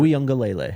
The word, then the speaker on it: Uiagalelei: Uiagalelei. Is that how you pronounce it? Uiagalelei.